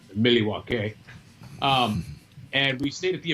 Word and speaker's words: Milwaukee: We stayed in Milwaukee, which is actually pronounced Milwaukee.